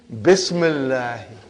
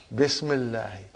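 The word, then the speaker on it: بسم الله: If you took out B, how will you pronounce now? Ismullahi. What will you say? Ismullahi. Bring B, Bismillahi. Bismillahi.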